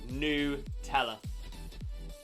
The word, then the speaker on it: Nutella: to nutella is nutella it's not nut ella it's new teller blew my mind that